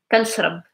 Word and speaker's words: كنشرب: But we do pronounce it as can, like the American can. كنشرب. And the R is not like really like you're not going to hear it strong because the B after it is voiced and is stronger.